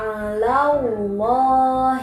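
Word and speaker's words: الله: seperti itu bacanya kemudian ngasih berharokat fathah nih sebelum lafadz Allah ada bunyi Akita Harus baca tebal lafadz Allah nya ohla kode amau lohu coba dirumah sama-sama kita baca lagi yuk ohla kode amau lohu oke bagus seperti itu bacanya tebal sebelumnya berbunyi Hai atau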